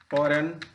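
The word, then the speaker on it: foreign: तो जी इज not often pronounced when it comes बिफोर एन, मतलब एन से पहले जब आता है जी हमारा, तो जी का प्रोनाउंसिएशन नहीं करते हैं। जैसे चंपाने, फॉरेन, shine, fan, फॉरेन, डिजाइन, align, ये तमाम सारे वर्ड हैं कि जिसमें जी का प्रोनाउंसिएशन नहीं होता है।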